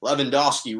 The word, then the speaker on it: Lewandowski: bayern munich's robert lewandowski lewandowski really is how they pronounce it but i don't have the thick accent was the fifa men's